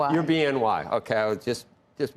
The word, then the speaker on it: BNY: Joining us now Alicia Lavine, head of investment strategy and equities at Bony. No, wait a minute. It's BNY, but it's Bimo. you pronounced BIMO, right?